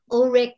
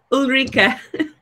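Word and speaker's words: Ulrike: it was San Diego, Ulrich, how do you say it? Ulrika. Yeah, Ulrika.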